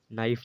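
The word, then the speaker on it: knife: नाइफ में भी के साइलेंट है। ऐसे है ने की स्पेलिंग यानी कि न का उच्चारण से शुरू हो जाए नाइफ।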